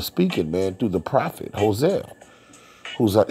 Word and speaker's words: Hosea: man through the Prophet Hosea who's that whose name also is pronounced how sir for they have fled